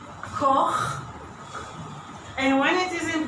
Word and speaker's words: Koch: So this one is pronounced Koch, and when it is in plural, I have to pronounce it from the mouth.